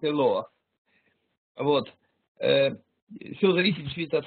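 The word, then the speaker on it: אלוה: Но это читается именно как Элоах.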